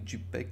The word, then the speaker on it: JPEG: вие си искате резолюцията сейфът като jpg както аз му викам или jpeg както уж му е правилното произношение сейвате си го по